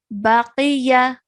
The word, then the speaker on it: Baqiya: Okay, and because qaf has a kasra, it's going to be pronounced qi. So remember to keep that thick and heavy sound as you say it.